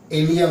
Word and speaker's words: ilium: ये वाली बोन कौन सी होती है, इलियम होती है, ILIUM। तो ये क्या है, इलियम है। क्या है, इलियम है। मैंने तुमको बताया था इलियम की 2 स्पेलिंग होती है, प्रोनाउंसिएशन दोनों का सेम होता है।